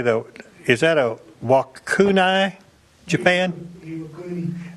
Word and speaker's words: Iwakuni: Is that a Wakuni, Japan? Iwakuni.